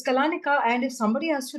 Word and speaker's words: Kalaneca: In fact we had so many people pronounce it as Colansia. Hello am I speaking to Rama from Kalansia and we were like oh no it's Kalanika.